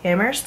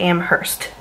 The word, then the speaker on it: Amherst: she's at UMass Amherst it's pronounced Amherst not Amherst just double you know